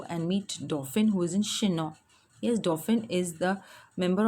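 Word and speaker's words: Chinon: hiding in she know it is ch I ñ no ñ which is pronounced as she know and not che non with his chin up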